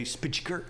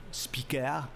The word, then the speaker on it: Spyker: started exporting cars abroad, they changed the name from SPIJKER to SPYKER so that foreigners could pronounce the name, right? Any Brit would say Spyker, right? Yeah. And the French couldn't pronounce the name at all. So it became Spyker, Spyker in French, and that worked very well.